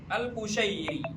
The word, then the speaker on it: Al-Qusyairi: Karim bin e Hawazin Alquusyairi alquusyairi bukan kusyari ya rahimahullahu fi risalatihi almasyura Nah, jadi ini teman-teman, Imam Al-Qusyairi punya kitab namanya Risalah Al-Qusyairiyah.